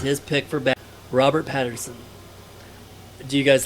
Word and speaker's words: Pattinson: Because Robert Pattinson, is it Pattinson or Patterson? It's Patton. Patton's son. Pat and his It's- son. Pat and his it's- son. Robert Pat's his son.